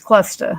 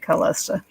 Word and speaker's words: Clesta: It's actually, I say it wrong. It's Clesta. I say it Callista.